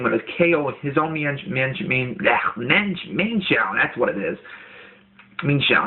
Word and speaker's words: Mienshao: So just straight away from that, you know, I'm going to Volt Switch and go right into my own Mienshao, or excuse me, Mainshao, it's pronounced.